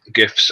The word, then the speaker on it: GIF: And since graphics starts with a hard G, then the acronym can start with a hard G.